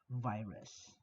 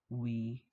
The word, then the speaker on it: virus: Um, V is not pronounced as V, but W. So it's actually pronounced, the word virus, it's actually pronounced as virus, virus.